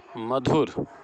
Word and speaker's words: मधुर: मधुर, मधुर अर्थात म पर हम ज़्यादा बल दे रहे हैं, अतः यहाँ म पर बलाघात है।